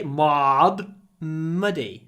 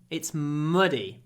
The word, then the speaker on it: muddy: muddy with this word don't say m muddy a long M before a short vowel muddy it's muddy m muddy hold the